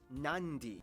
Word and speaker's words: Nadi: make the sound therefore the town of nadi is actually pronounced nandi and this word is